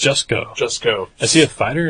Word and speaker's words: Jusko: Or how is his name actually pronounced? Jusko.